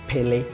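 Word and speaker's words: Pelé: like some country they like you said like Pelle yeah but like the the last e is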